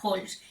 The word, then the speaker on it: haul: Si vosotros buscáis qué significa ho en inglés, que se escribe, te lo pongo en pantalla, h a u l, pues el diccionario te